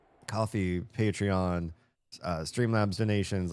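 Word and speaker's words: Ko-fi: the co coffee coffee, I always want to call it Kofi because the way it's spelled, but coffee, Patreon, uh Streamlabs donations,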